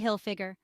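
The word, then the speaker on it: Hilfiger: rhymes with line Tommy hillfiger Tommy hillfiger the hillfigure is pronounced like it looks with emphasis on Hill Michael Kors Mel Kors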